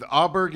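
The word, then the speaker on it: Åberg: The best golfer in the world, Scotty Scheffler with Russell Henley, with Auberg and Fitzpatrick, Matt Fitzpatrick against them.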